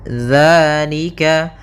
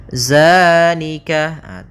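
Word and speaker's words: ذٰلِكَ: Dzalika. Hati-hati dalam pelafalan ya. Hati-hati dalam pelafalan dzal. Jangan dibaca dengan zai. Jangan zalika. Bukan. Dia bukan huruf dza. Bukan dengan bacaan zai. Di sini tidak dibaca dengan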